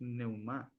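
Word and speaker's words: πνεῦμα: Vamos a la palabra espíritu en griego es neumá Y si entramos aquí a la palabra espíritu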